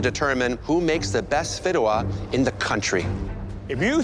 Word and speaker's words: fideuà: Fideuà.